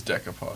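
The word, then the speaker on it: decoupage: They've done decopage. Yeah. Did I say it right? I think it's decopage.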